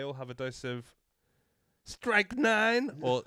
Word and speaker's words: strychnine: flavours, but they all have a dose of strychnine, or strychnine, as it's actually pronounced, served in the Kool-Aid.